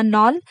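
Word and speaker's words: knoll: देखिएगा के एन ओ एल एल यानी इसको नॉल नहीं बोलेंगे इसका प्रोनाउंस एशन होगा नॉल यानी हिंदी में पहाड़ी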